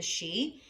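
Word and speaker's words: sidhe: ladies of the fae the she so it's spelled s-i-d-h-e so vivayn she worked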